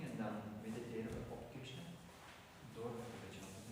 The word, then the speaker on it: Krishna: En een S met een puntje is een Sh. Krishna. En een N met een puntje is meer een Nu. Krishna.